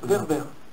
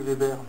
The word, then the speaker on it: Werber: Weber. Weber, je vous prie. Non, c'est dur à prononcer, depuis je suis petit, c'est Weber.